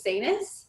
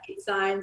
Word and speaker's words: Itsines: everyone struggles with that so i say it's seniors okay so i said it right yeah i think a lot of people say like signs or whatever we both just like